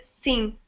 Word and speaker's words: sim: so it's hard because we don't pronounce the last em so we don't pronounce it as seemed no one says seem ok we say sing we do something after